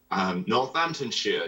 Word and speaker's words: Northamptonshire: Northamptonshire, yes.